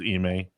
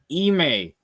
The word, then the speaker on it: Ime: Yeah, I think it's pronounced Ime. Ime.